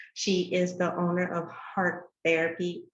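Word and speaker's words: Hart Therapy: like you said heart it's pronounced heart therapy but it's spelled h-a-r-t therapy and what we do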